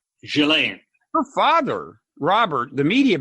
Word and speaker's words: Ghislaine: I mean, now, by the way, Maxwell, how do you pronounce her first name? Ghislaine.